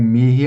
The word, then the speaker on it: mihi: Novamente, um mihi aqui, você pode pronunciar com K também.